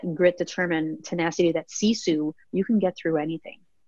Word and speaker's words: sisu: called true Sisu life the word Sisu is actually a finnish word it's spelled SI su there's really no direct